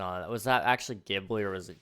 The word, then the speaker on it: Ghibli: Was that actually Ghibli or was it Ghibli? Is it soft G or hard G? Actually, I should have asked this question first. What is your problem with some animes? Usually, it's the, G, not a J.